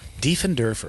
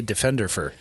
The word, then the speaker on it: Diefenderfer: last name derer de and derer I was going to say Defender that's common de and derer defend derer German I was going to